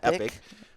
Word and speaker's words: Epoch: tell us Epoch batteries I pronounce it Epoch I think that's the way you pronounce it I do hear some people on YouTube epic but EP yeah reached